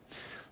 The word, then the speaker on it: khamsa: It’s what’s called the khamsa, and it can be spelled k-h-a-m-s-a or just h-a-m-s-a. Khamsa (pronounced “haum-sa”) or khamsa (pronounced with a rolling “kh”).